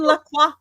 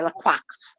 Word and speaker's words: Lacroix: I have to say whenever Christian Lacroix is an option, I have to say it. Because some people don't know and they say Lacroix. And it's not quacks. It's You don't, the X is silent. Lacroix.